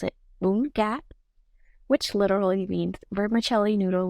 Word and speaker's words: Bún Cá: as Bun Ca, or in Vietnamese we would pronounce it Bun Ca, which literally means vermicelli noodle with fried fish.